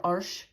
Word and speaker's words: Arches: in France it's also it's pronounced in French arches um or arsh um this is the